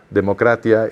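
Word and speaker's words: δημοκρατία: como nosotros la entendemos usaban una palabra que nosotros también usamos ellos la pronunciaban democratia y nosotros decimos democracia y obviamente hay un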